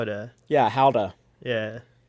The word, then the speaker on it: Gouda: get some how that you know it's not pronounced gouda it's how to yeah howda yeah how do you do that's what that's what our tour guide guide was telling us like it's actually pronounced how to i was like how do you say that